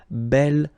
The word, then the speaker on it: bel: Okay, remember you pronounce it belle, so like the feminine version, but then you write it B-E-L.